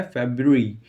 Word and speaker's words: February: ही बोलते हैं, लेकिन उसका करेक्ट प्रोनाउंसिएशन होता है फेब्रुअरी, फेब्रुअरी, फेब्रुअरी, ठीक है। अब देखिए FEBRUARY, ये इसकी स्पेलिंग होती है और इसका करेक्ट प्रोनाउंसिएशन देखिए, फेब्रुअरी, फेब्रुअरी, ठीक है। या फिर इसको हम एक तरीके से और बोलते हैं फेब्रुअरी, ठीक है।